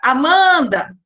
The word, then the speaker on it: Amanda: Amanda. Qual que fica mais forte? A sílaba man.